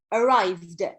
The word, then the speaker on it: arrived: Yes, Sharafuddin, when he arrived, not, so there are three pronunciation for the last ed, for the final ed of past simple, and this one is the, not id, arrived.